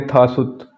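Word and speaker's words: 다섯: कहते हैं ने ऐसे फाइव है इसको पढ़ेंगे था सुत थासु सिक्स को पढ़ेंगे युत और सेवन को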